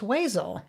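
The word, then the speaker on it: Wezel: weasel the van weasel she says weasel every time even when I say it right before her van Weasel oh it's Weazel oh my God is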